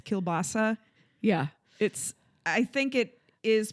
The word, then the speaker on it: kielbasa: Kind of like how we say kibasi and it's kielbasa.